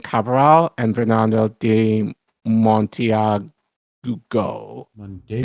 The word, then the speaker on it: Monteagudo: Monteagudo? Yes, that's how you say it.